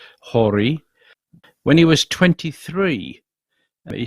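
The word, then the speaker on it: Horie: more about the history of kenichi should be pronounced hori when he was 23 he sailed from japan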